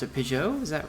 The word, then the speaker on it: Pageau: Pageau, is that right? Pageau. Yeah, it's hard to say in English because you don't usually have an ah sound and a je sound next to each other.